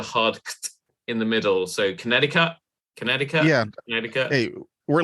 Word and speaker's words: Connecticut: sorry so as a Brit I would say connectica but I know it's there are different ways of pronouncing it but you don't do the hard in the middle so Connecticut Connecticut yeah conut hey we're lazy when it